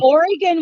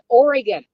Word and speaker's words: Oregon: Oregon, we have, Oregon and Washington, we have Klickitat, we have Clackamas, mhm.